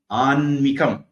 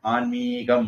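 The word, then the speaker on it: ஆன்மிகம்: தீக்குறில் நாகரிகம் ரி குறில் ஆன்மீகம் மீக்குறில் இலக்கணப்படி அப்படிதான் வரும் நிறைய பேர் நீட்டி எழுதி பழகிட்டாங்க ஆன்மீகம் நாகரீகம் அப்படிங்கிற மாதிரி இப்போ ஆத்மிகம் இந்த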